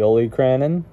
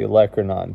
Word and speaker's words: olecranon: is called the electron some people call it the only crannon I call it the olecranon two different pronunciations for this is that